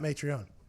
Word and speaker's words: Mitrione: Yeah, you know Matt Mitrione is It's m i t. You say I think you pronounce it like there's an a in there. Yeah, it's Matt Mitrione.